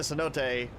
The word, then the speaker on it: cenote: It's actually It was like it'd be cenote. Or uh cenote, but it's actually cenote. Uh it's the way I've heard it's supposed to be pronounced.